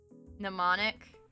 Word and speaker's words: mnemonic: Mnemonic. Oh, the silent. The first letter is silent.